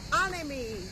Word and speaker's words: Anemi: how do you say it it's the hotel anime anime anime hotel and it's had a bit